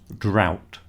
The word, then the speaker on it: drought: It sounds the same as out. Drought.